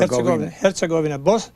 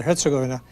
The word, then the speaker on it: Herzegovina: In most of these words that are Serbian or Croat, the accent is usually on the first syllable.